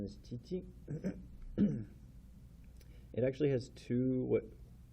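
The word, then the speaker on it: 父: Pronunciation is chichi.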